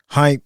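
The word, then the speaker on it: Hympe: Definitely want to give a shout out to my man Hype of How to Hustle Podcast. Is Hype, not hype.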